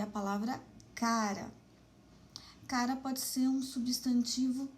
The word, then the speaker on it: cara: Em cara, a sílaba tônica é o K, é a penúltima sílaba. Então, cara é uma palavra paroxítona.